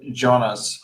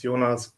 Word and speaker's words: Jonas: Jonas, is it Jonas or Jonas? How do you pronounce it? Yeah, in German it's Jonas, but Jonas is also fine.